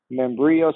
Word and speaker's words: Membrillo: You can also find me on LinkedIn, Membrillo, spelled like quesadilla, sounds like embryo.